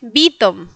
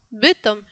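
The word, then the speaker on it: Bytom: Y le pregunté, me perdón, me preguntó y entonces le dije, "Vivo en Vitom, Vitom, con la con la I latina, Vitom."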